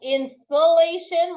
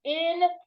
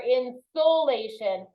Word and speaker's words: insolation: time I read it it's not insulation like the pink stuff you put in your attic it's insulation no it sounds similar insulation or insolation yeah it is solar